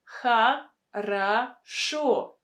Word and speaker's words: хорошо: We have a stress on the last syllable. Хорошо. Шо. That is why O is pronounced as it should be. O. But the first two O are pronounced as A. Хорошо.